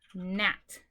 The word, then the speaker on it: gnat: This first one is gnat. Gnat. You do not pronounce the G.